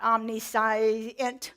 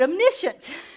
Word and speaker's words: omniscient: pronouncing them all right first we have omniscient not omnis but omniscient omnipotent y all you I